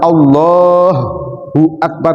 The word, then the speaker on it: Allahu Akbar: menjadi ha yang ditasdid padahal Allah itu hanya tidak ditasdid Allahu Akbar bukan Allahu akbar Bukan beda Pak ya